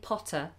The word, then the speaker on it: Potter: my patrons is asking do you pronounce the Double T in Harry Potter so we just say it once we say Potter Potter